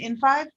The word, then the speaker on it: in5: um so uh i'm new to both uh in five is that how you're pronouncing it in five yes and this new part of height so